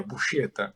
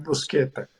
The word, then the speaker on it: Buscetta: Aham, Na Itália, é Buscetta. é Buscetta. No Brasil, ia ficar estranho. Começaram a chamar de Busqueta, Brusqueta.